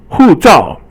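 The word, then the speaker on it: 护照: 护照 is both fourth tone and it means a passport.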